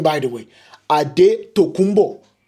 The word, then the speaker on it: Antetokounmpo: Antetokounmpo. That's how you pronounce his name. Don't let anybody tell you otherwise.